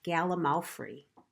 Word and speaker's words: gallimaufry: It kind of means a glorious hodge podge, and it's galamalfrey. And I'll spell it out later, but it's a real word, Galamalfrey.